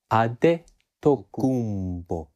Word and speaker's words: Adetokunbo: mainly nigeria now in yoruba the name is pronounced as ade ade tokumbo and it means something like the crown came